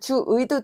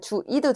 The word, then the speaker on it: 주의: 주의는 단어의 첫 음절 첫 번째가 아니라 두 번째지. 얘는 주의도 되지만 주 이도 된다라는 거야. 그러면 좀 몇 개 더 예시 써 보자.